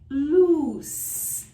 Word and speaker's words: loose: Another one is loose, loose, and it's pronounced with a voiceless S sound, as in snake.